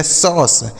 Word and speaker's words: sauce: SAUCE, इसे पढ़ा जाएगा सॉस, SAUCE सॉस।